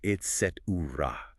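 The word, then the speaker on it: et cetera: The critical error is the k sound that's often inserted making it etc. The word is Latin for and the rest and should be pronounced etra often shortened to etc in spoken English.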